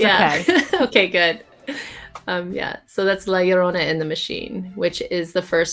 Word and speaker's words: La Llorona: Okay, so it's La Llorona.